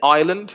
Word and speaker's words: Ireland: it does there's a silent s in ireland it's one of the